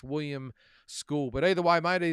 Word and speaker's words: William Scull: It's not Skull, it's Skool.